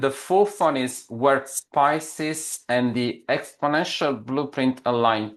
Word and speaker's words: Pisces: Yeah, Pisces. Did I pronounce it correctly, James? Yeah, you did. Pisces as in the zodiac, the sign of the zodiac.